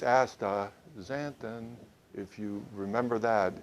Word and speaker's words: astaxanthin: couldn't figure it out can but uh it's ASA zanton if you remember that it's real easy to